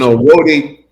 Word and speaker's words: Roadie: Rody, and this is before UPS acquired this app. For those people who are going to ask, to spell it ROADIE, Rody.